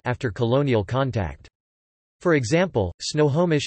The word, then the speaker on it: Snohomish: For example, Snohomish is currently pronounced Sidohobish, but was transcribed with nasals in the first English language records.